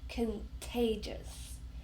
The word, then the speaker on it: contagious: Contagious. Can you hear how many syllables? Contagious. Got three syllables. And we stress the second one.